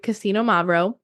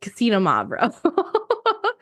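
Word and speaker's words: Xinomavro: that makes sense right the beginning when you're saying the X it's easiest to try to say this if you think that it starts with like Casino k a s i n o that's how I've taught myself how to say this I just kind of say it a little quicker so it's just Casino mavo hopefully that helps in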